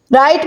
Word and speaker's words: write: "write" में W silent है।